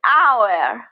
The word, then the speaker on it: hour: Yes, we have the H consonant sound. That is silent. So the first sound that we hear in the word hour is a vowel sound. So we say the hour.